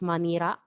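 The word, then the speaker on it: マニラ: So Manila City is Manira since they do not have letter L or sound L.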